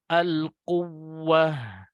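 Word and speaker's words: القوة: Jadi agak ada penekanan di huruf wawu yang bertasydid atau ya yang bertasydid. Dikhawatirkan kalau tidak seperti itu membacanya, nanti Bapak Ibu khawatirnya membacanya al-quwwah, menghilangkan satu huruf wawu Bapak Ibu nanti. Nah, ini konsekuensinya besar sekali ketika kita membaca dengan al-quwwah. Al-quwwah. Nah, itu yang benar ya.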